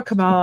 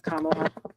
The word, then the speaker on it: Kamala: I always call her Kamala. I think I'm saying it wrong. I think it's Kamla. Yeah, rhymes with Mamala.